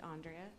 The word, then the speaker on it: Andrea: My name's Andrea. You can say it like five ways, but it's actually Andrea.